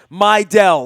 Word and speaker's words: Mejdal: the Sigma del and learning the pronunciation of mej d al we have learned it's my del like my girls so we'll be singing